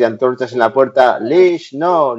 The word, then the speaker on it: leash: Lo dices mal, se dice leash.